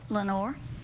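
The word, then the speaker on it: Lenoir: little bitty Town mhm what's it called Lenor Lenor mhm like in the PO like in yeah the Raven Lenor it's not spelled the same way ah French it's French mhm the French have occupied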